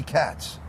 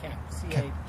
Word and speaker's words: Kapp: Did I say Mickey Kapp, or it's Mickey Katz? I forget. It's Kapp. C-A-K-A-P-P. Okay, Kapp. Okay.